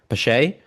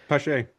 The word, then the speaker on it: Pache: Pache. I feel like I'm pronouncing that wrong. Pashe. Pash. I think No. Pash. Pash. P. Pashe. You're right.